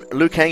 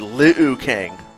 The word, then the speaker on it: Liu Kang: I pronounce it too Liu Kang in Mortal Kombat when I first read his name when I was a kid I thought I said Li Kang and shaan I thought